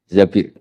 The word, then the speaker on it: Zabir: Di hadis ini bukan bacanya bukan Zubair tapi Zabir.